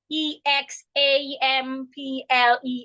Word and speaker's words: example: after the ex ex affects the pronunciation of the egg so it sounds egg egg example if it's a consonant